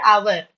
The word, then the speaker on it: hour: Similarly for the word hour 1 hour 2 hours 3 hours h is silent.